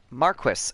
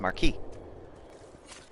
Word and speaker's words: marquis: heard it before is approximately the way it would be pronounced in French which is marquee anyway that's just that's